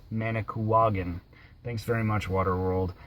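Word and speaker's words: Manicouagan: of our previous video when I pronounced it manik kugan it should have actually been pronounced managan thanks very much water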